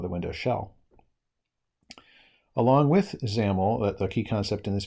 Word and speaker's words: XAML: we're going to cover in this video are zaml which is xaml pronounced zaml stands for extensible application markup language and this